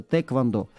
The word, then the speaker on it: тхэквондо: корейцев разговаривать с ними они говорят без без буквы х просто тэквондо регламент доносами charvel это